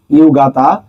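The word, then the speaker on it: 夕方: কারণ চার নাম্বারে একটা ইউ কিন্তু কম আছে।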